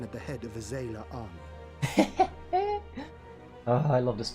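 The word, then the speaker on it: Xaela: But Zayla, that's how you pronounce it.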